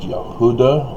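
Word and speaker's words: Yehudah: judah comes from judas it's actually pronounced yahudah or judah which is phonetically the same as utah and that great mormons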